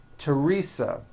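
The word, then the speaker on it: Theresa: Although these next words and names are spelled with a TH, they are pronounced as if they were spelled with a normal T, like that.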